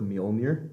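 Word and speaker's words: Mjölnir: Dude, when Hela took Mjolnir, I think that's how you pronounce it.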